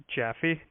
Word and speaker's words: Jaffe: your name is Officer uh how do I pronounce it again jaffee j-a-f-f-e -jappy okay yeah it was great talking